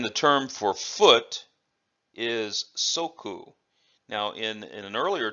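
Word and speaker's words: 足: this in this context we use the the pronunciation it's ooh it's ooh okay and then the term for foot is soku now in in an earlier technique Oishi upgma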